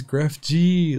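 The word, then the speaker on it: GrefG: His name is Gref G. Like, his name, I mean, I don't even know if that's how you pronounce his name actually, but it's spelled G-R-E-F-G.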